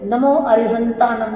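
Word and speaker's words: णमो अरिहंताणं: प्रकार से नहीं करते तो देखिए नमो अरिहंतानम बोला जाता है है ना तो ह के ऊपर की बिंदी हटा देते नमता नंद आनंद उन मतलब उ भी हटा दिया उ बयान बोल देते हैं मतलब कुछ भी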